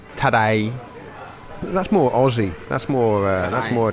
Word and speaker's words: Tadej: Pogačar's team yesterday that his first name Tadej is basically pronounced like today in a Cockney accent. Tadej.